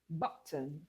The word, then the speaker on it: button: Button. Button. Button. Button. Good. So, the word button is a noun. It has two syllables and we're stressing just the first syllable.